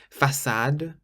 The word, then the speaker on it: façade: Façade. Façade means front, façade. So a C with a cedilla or a C cédille is pronounced like the letter S in French.